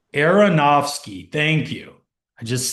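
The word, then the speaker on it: Aronofsky: Aronovski. Areronowski.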